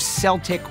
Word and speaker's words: Celtic: that the two places the legacy of Celtic with a soft C live on is with a soccer team in Scotland and a basketball team right here in Boston.